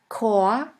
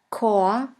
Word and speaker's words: Chor: In the German language, the words which normally start with the letter C is pronounced like the letter K. Here we have the word Chor, Chor, which means choir.